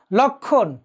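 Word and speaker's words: লক্ষ্মণ: যেমন ধরো লক্ষণ, একটু খেয়াল করে দেখো, লক্ষণ, তাহলে সংযুক্ত বর্ণের সাথে মফলা থাকায় উচ্চারণটি হলো না, সূক্ষ্ম উচ্চারণটি হলো না।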